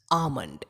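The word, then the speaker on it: almond: technology technology next word आल्मंड इसमें जो है वह साइलेंट नेक्स्ट अव्वल स्मार्ट बुल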